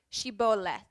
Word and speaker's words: Shibboleth: means that you're an ear of corn it's pronounced Shibboleth it has come to mean a peculiarities of